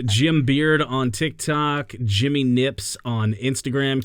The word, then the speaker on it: Knipps: I am Jim Beard on TikTok, Jimmy Nips on Instagram, KNIPPS, the K is silent.